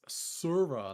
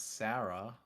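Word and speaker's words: Serah: It's Surah, not Sarah. Surah. It's It's definitely Sarah. There's definitely some of them are pronounced Sarah. It's Sura.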